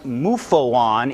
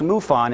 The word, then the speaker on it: MUFON: side by an n and it is never pronounced mufo on it's pronounced mufon and so the ufo quality is diminished okay